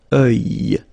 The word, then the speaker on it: œil: Strange combination of vowels here, okay, and then you will get the sound and then y, œil, alright, and it's masculine, by the way. Un œil, l'œil, okay.